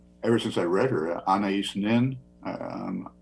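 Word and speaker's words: Anaïs Nin: since I read her an nin um I think some people pronounce anas nin um who wrote a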